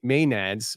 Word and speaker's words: maenads: His may may nee maenads, I think it's called you pronounce it maenads.